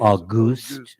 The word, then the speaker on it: Auguste: And this relationship that he has with, I guess it's spelled August. I mean, very creatively, he was born in August, and so his parents gave him that name. But I guess it He's would be French Canadian. Auguste.